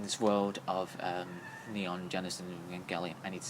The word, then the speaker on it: Evangelion: Evangelion. Yeah. Alright. I thought it was Evangelion.